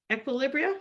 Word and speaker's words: Equilibria: founder and CEO of equilibria equilibria did I say it right yes and the best-selling